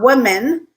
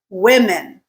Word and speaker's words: women: Okay, so not women, women.